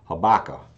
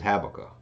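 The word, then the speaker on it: Habakkuk: I've always been taught to pronounce it as habaka the correct pronunciation is habaka uh so hey either way you say it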